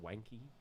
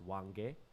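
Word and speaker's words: Hwange: national park was we used to call it wanky like wanky is like the like english way to say it but it's wang gay okay h-w-a-n-g-e said we'd say wanky but it's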